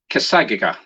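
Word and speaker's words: Cassadaga: go i'm going to do my best to pronounce this kassaga c-a-s-s-a-d-a-g-a now if you do a search for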